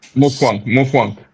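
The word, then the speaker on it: Mutfwang: Matafika or something like that. I'm not good at pronouncing his name. Mufwang.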